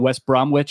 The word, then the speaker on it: West Bromwich: yeah that's Norwich and West Bromwich Albion yeah yeah what's with the silent W I don't get it in the middle of words silent W oh we cut things